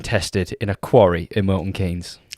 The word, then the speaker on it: Milton Keynes: way I believe so Haynes and Keynes but we say Milton Keynes and we say Ashton Keynes we do what's your